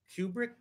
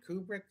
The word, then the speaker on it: Kubrick: standing family Kubrick yes that's how you say his name to Kubrick Kubrick Rubik's Cube Rick anyway too shiny so